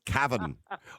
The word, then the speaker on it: Cavan: So it's Cavan, or as they say in Cavan, they don't actually say Cavan and Cavan.